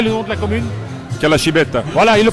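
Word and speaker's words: Calascibetta: la salsa et le nom de la commune calashibet voilà il le prononce bien alors c'est c'est important pour Chapel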